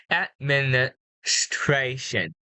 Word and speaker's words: administration: So you missed the S sound at the middle of the word. Administration.